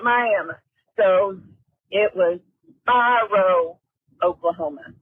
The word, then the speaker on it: Miami: It's kind of like Miami, spelled like Miami, but here in Oklahoma, we call it Miami.